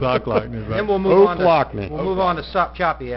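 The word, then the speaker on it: Ochlockonee: When I came here 8 years ago, OCH generally is pronounced Ock. I called it Ocklackney until they beat me over the head, and it's Oaklackney.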